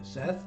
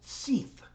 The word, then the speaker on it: Seth: Do you know how many times people have read S-E-T-H as Seeth? Seeth? Really? does B-E-T-H spell? Have you met a girl named Beef? No. So why is S-E-T-H Seef? But that's how they pronounced it.